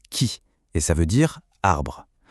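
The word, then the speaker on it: 木: Ça se prononce qui et ça veut dire arbre.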